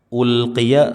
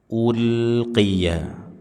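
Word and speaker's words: أُلْقِيَ: u kullama u ya ulqiya sama pengucapannya lam sukun dibuka jangan dimonyongkan Ul ulqiya ulqiya ulqiya bukan ulqiya ul bukan ulqiya fiha dua harakat dua harakat mad tha thobi'i.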